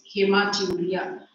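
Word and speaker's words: haematuria: condition is known as hematuria. So what is hematia hematuria or hematuria hematuria or hematuria any way you pronounce it not a problem there.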